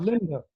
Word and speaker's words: Linde: Linda. Linda. Linda. Okay. It's a Scandinavian E, which is pronounced Linda. Okay. So Linda, not A.